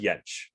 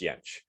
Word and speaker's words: Jentsch: So yeah, in English the J's are like a J, but in other Germanic languages they're more like a Y. Right, so Fjord, not Fjord, Bjornsson, not Bjornsson, that kind of thing. So same with Jentsch, Ernst Jentsch.